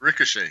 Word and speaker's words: Ricochet: It's Ricochet. Ricochet.